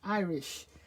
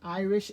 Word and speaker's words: iris: It's called an iris shutter, and I must make sure that I pronounce it right, because I'm very used in saying Irish. So it's not an Irish shutter, but it's an iris shutter.